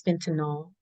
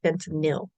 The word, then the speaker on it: fentanyl: I also want to say, a lot of times you hear people pronounce Fentanyl as Fentanol. The correct pronunciation is Fentanyl, not Fentanol.